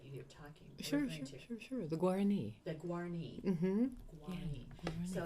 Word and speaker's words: Guarani: and if you could help me with the pronunciation of the people that you're talking to. Sure. The Guarani.